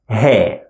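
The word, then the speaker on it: ه: The following looks like this, and we pronounce it He, like H sound in English, He.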